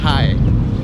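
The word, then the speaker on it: hai: Au Vietnam le chiffre 2, on le prononce high h a i. Puis ça sonne comme high en anglais pour dire bonjour.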